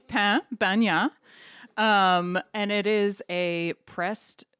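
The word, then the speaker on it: pan bagnat: We learned how to pronounce it over the course of the week, and it's pain bagna.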